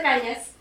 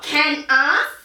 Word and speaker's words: Cañas: and says, "Bienvenida, señorita Cañas." She pronounces my name right. That never happens in Australia. It's Cañas, not can-as.